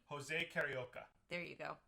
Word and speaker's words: Carioca: say his name jose carioca there you go you remember because it sounds like karaoke but it's karaoke and actually karaoke is